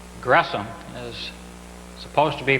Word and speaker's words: Gresham: It's not an SH sound, but it's a syllable division there, so it's Gresham.